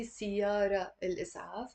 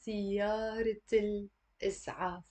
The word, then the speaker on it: سيارة الإسعاف: And we don't say siyara al-is'af. That would be completely wrong. We have to say siyarat al-is'af.